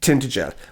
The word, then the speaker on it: Tintagel: The locals go, oh, it's not pronounced It's that. Tintage. Yeah, it's Tintagel, where they say that King Arthur was.